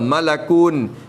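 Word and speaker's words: ملك: Tu dalil kata kena malakun bi fathil lami, baca dengan fathah lam.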